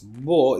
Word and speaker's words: beau: But what we do here, beau, is just beau. This is the pronunciation of beau.